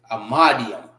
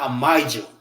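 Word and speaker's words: Imadyam: Amadium. Not amidium. I used to say the same thing when I first started. I'm like, when I first learned how to say it the proper way, I'm like, hold on. I thought it says amidium. It's not amidium, but you know, black people.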